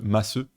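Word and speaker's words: ます: Beaucoup connaissent déjà ce phénomène avec le masseux.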